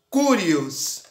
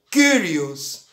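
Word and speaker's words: κύριος: palavra senhor' no grego quer dizer kurios ou em outra pronúncia kyrios e essa palavra ela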